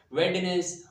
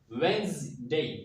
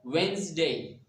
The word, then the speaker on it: Wednesday: word as Wednesday or Wednesday, but it is incorrect. Actually, this word can be accurately pronounced as Wednesday. There is Z sound here in the middle, and D is silent over here. So Wednesday is the accurate pronunciation.